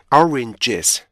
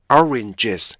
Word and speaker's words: oranges: 나눠 준다고 생각하시면 돼요 스톱 사운드로 단어를 분리해줄 때는 각각의 음절을 똑같이 똑같은 길이로 나눠 주셔야 돼 똑같은 리듬의 길이로 그래서 보세요 oranges oranges 근데 여기서 중요한 건